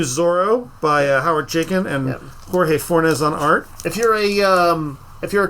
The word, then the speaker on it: Jorge Fornes: Jorge Fornes, yep.